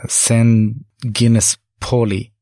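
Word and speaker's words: Saint-Genis-Pouilly: partially located is called Sangguniang in English is pronounced like sin Guinness Poli the name Polly comes from Latin a Polycom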